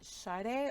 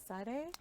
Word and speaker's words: Sade: pronouncing your names properly is it sade or satay it's like the singer like the singer and